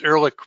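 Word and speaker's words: Ehrlich: the upper left the you actually pronounce that er so its Erlich preserve and then you can't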